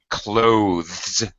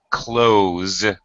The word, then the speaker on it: clothes: speakers are going to pronounce this close with a Z sound Z as in zebra it sounds exactly like